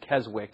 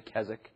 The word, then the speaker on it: Keswick: begun during his day the Kazik often often pronounced Keswick it's spelled Keswick but it's actually kazakh the Kazakh movement was very prominent in those